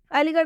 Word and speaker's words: अलीगढ़: अलीगढ़ में भी आर और एच आया है, इस आर एच का उच्चारण ढ से होगा।